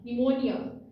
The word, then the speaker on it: pneumonia: और इसकी प्रोनाउंसिएशन में ये पी साइलेंट है, नियोमोनिया, निमोनिया, निमोनिया, निमोनिया, ये इसकी प्रोनाउंसिएशन है।